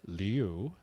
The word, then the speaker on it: Liu: But anyway, that is why I've been pronouncing it Liu and will continue to pronounce it Liu, is because that is what she's requested we, as the media, continue to pronounce it as.